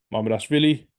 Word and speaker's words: Mamardashvili: Shili, Mamardashvili in GK.